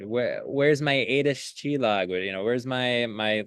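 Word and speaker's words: csillag: she used for you that I'll let you pronounce so I'm not going to. Yeah. Uh Chilog, uh which means star in Hungarian.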